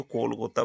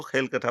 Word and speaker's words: कोलकाता: मुंबई है कोलकाता है ये अंग्रेजों से ना तो कोलकाता बोला जाता था ना मुंबई बोला जाता था वो मुंबई को तो बॉम्बे बोलते थे और कोलकाता को खेलकटा बोलते थे और वो ऐसे ही